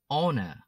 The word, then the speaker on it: honor: honor honor Từ này khi đọc, chúng ta sẽ bỏ chữ h đi.